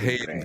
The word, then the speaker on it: Hedengren: And so in Sweden, my name, I'm going to say this is the only thing I know in Swedish. I'm going to say my name is Hedengren, but I'm going to say it in Swedish. It goes, Jag heter Hedengren. And so it's Hedengren. Hedengren. Like it's nothing like how we say in America, Hedengren.